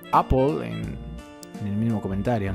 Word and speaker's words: Apple: Epic contra Apple o Apple se pronuncia correctamente creo Apple Apple pues no estaba equivocado creí que se pronunciaba Apple pero veo que se pronuncia Apple Apple es como una O y una e a la vez muy extraño Pero bueno vamos allá